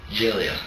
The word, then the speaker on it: Gelia: How do you pronounce that? Jillia. Jillia.